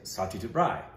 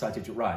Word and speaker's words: Satyajit Ray: I know there's ways, but when people pronounce his name the proper way, like Indrani will say Satyajit Rai, but when they just say his last name, they'll say Ray.